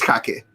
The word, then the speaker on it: Jacques: about you just now apparently i've been mispronouncing your last name yeah yeah that is it is kake wow i'm sorry yeah jacques yeah to me some people say jack i i've i've gone